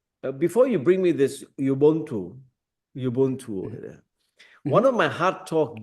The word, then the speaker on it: Ubuntu: you brought up, that Ubuntu. Is that right? Is that how you pronounce it? That is perfect.